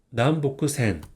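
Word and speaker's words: 南北線: 북 그래서 요미가나 읽으면 난 이거는 호크니 보크 난 보크 센 9번은이 브라운 색상에가 써져 있는 직 지하철입니다 그래서이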